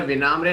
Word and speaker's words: विनम्र: बहुत साल तक तो लोग मेरा नाम बॉच करते रहे, विनम्रा, विनम्रे, विनम्रे। तो बहुत कम लोग सही तरह से प्रोनाउंस कर पाते हैं।